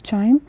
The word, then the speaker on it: QIIME: So it is written as QIME, pronounced as Chime.